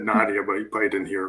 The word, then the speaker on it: Nadia: fine oh i think he just missed my pronunciation i said nadia but he played in